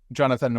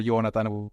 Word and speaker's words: Joonatan: So, hey, I'm Joonatan or Joonatan, whichever way you want to pronounce it, the Finnish or the easy way.